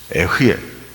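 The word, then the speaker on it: אֶהְיֶה: 이게 히브리 말로에 아르에 이렇게 발음합니다.에 아르에 이것이 나의 영원한 이름이다. 토라포션의 전문가이신 강대위 목사님의 해석에 따르면 에흐에 이것은 살아 있다라는 뜻입니다.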